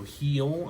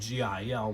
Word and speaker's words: Gil: Geronimo Heel, I know it's spelled G-I-L, like Gil, but it was pronounced Heel.